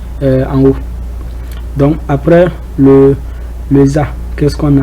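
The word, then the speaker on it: ذ: Après le del, on a le za. Le za. Ça, il faut un peu sortir la langue.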